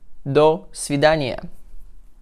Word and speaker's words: До свидания: До свидания. До с в и д а н и я.